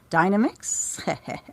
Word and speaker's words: Dynamix: Although, funny enough, the Heart of China, that's a Dynamix. Yes, that is the correct pronunciation. Of course it is. It's nothing to do with the blender.